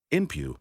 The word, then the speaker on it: Inpu: Inpu, pronounced Inpu or Anpu by Egyptians and Anapa in the Amarna letters, called Anubis by the Greeks, was one of the most beloved gods of the Egyptians.